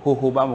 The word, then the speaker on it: jojoba: Mais ça diffé là, il peut prendre dans un pied, ça pied là, on a dit ça pied jojoba, hohoba, comme on a prononcé ça, J-U-B-A. Correct? Hohoba.